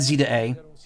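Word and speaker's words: Z-A: in Pokemon uh Champions and zda not Za excuse me finally got initially officially pronounced never got into a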